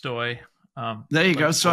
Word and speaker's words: Stoj: Um so first I I will mention that I have no choice but to mention that uh that my my name is pronounced Stoy.